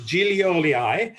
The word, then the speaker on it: Gillioli: i should pronounce it sounds really italian indeed yeah so it is julioli uh and uh he